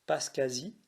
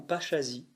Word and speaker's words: Paschasie: faire le récit de sainte pascasie ou pasachazi selon la prononciation qui est une vierge